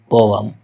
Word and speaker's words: poem: It is commonly mispronounced as poem, but it is actually poem.